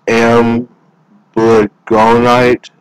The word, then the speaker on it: amblygonite: It's amblygonite. I'll spell it. It is amblygonite.